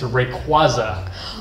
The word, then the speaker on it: Rayquaza: four two one and in English it's Rayquaza and then next slide it's so old Pokemon yeah so it's kind of the same in English Rayquaza how do you say